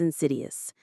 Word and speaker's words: insidious: The stress is on that second syllable.